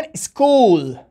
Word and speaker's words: school: بگونی مثال, مکتب به انگلیسی میگن school. بچه ها دقت کنین, CH چی تلفظ کردیم؟